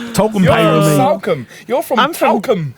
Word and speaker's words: Salcombe: Salcombe. You're from I'm from Talcum. Devon. Oh my God, you've drunk too much. Yeah, you're from Talcum. Is that how you say it? No, Salcombe. Salcombe.